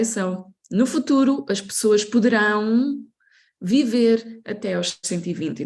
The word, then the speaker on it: poderão: As pessoas poderão. This is the strong syllable.